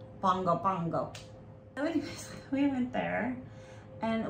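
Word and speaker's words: Pago Pago: surprise American Samoa yeah it looks like Pogo Pago or P poo but you pronounce it like Bongo Bongo any we went there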